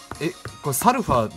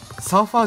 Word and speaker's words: Sulfur: してるけどさこれってサルファーだよね読み方サーファーじゃないよねあそこにいる